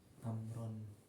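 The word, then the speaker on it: عمرو: Amr apa Umar bacanya? Amr deh.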